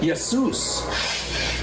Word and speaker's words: Jesus: translation the King James his name was spelled with a Y instead of a j and then when they put the J in there they still knew to call him with a Y sound yesus but uh pretty soon